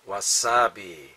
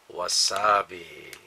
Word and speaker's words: wasabi: is called comida crisps wasabi wasabi was sorry right down here was sabe but it's actually pronounced wasabi wasabi wasabi wasabi wasabi cool